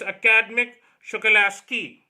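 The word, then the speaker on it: Akademik Shokalskiy: So it's Academic Shokalasky. So that's the real pronunciation.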